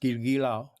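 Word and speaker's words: Giljegiljaw: For example, the baseball player Girigilao should be pronounced in traditional Taiwan name should be pronounced Girigilao. Okay, but in Chinese, because he write his traditional name in Chinese character is Jilao. Okay, so you will see that Girigilao is definitely not similar to Jilao.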